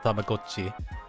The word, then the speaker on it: Tamagotchi: Tamagotchi, but that's crazy to find out on the Nintendo Direct that it's actually pronounced Tamagotchi.